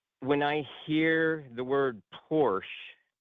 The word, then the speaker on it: Porsche: lexicon is that of Porsche, which is the proper and traditional German pronunciation, and it's a German manufacturer, so therefore that is the correct way of saying it, right?